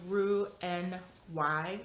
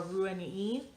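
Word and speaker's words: Roux-en-Y: is the gastric bypass it's also called the roux and why or ruiny depending on your french pronunciation um so here's a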